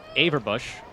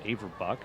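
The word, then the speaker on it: Averbuch: See Yael Averbush right there. I believe I was mispronouncing her name earlier as Averbuck.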